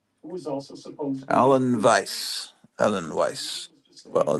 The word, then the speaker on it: Weiss: was also supposed alen Vice Alan Weiss well it's it's the W in in German is pronounced V on Vice very nice artwork there